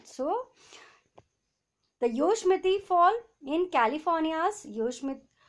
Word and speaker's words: Yosemite: So the Yosemite Fall in California's Yosemite, pronounced as Yosemite, right?